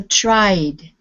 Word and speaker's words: tried: Okay, so if you use the ID sound, this is the time when it becomes two syllables. So, for instance, the word start, we would put the ED ending, it would be started. But this is tried. There's only one syllable.